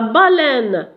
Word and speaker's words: baleine: La baleine, EI, ça se prononce aussi, E.